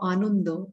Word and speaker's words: Ananda: said, thoughts on how Anundo or Ananda, whichever way you choose to pronounce it, a way of feeling